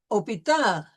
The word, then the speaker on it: hôpital: And we have had another instance where we had a silent H in the word hôpital.